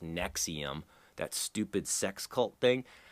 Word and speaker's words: NXIVM: That NXIVM, it's actually pronounced Nexium, that stupid sex cult thing.